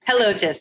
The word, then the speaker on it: Helotes: And I don't know how to say this other word. Helotes, is that correct? Helotes. Uh-huh. Okay, Helotes.